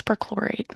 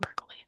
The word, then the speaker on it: perchlorate: I believe I mispronounced I think it's perchlorate, not percolate.